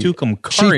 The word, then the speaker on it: Tucumcari: too it's called tukumari Tucumcari she told me how to say it on the documentary but I asked her but I can't took him Kari yeah pretty cool um